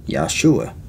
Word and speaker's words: Yeshua: at the works of yeshua or yahshua as it's sometimes pronounced just talk about how